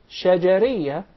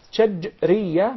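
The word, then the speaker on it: شجرية: It's commonly mispronounced. Some of even the Arab would say shajariyah, and there is a big difference between both of them. When there is a sukoon on the letter jim, that's shajriyah, means from the middle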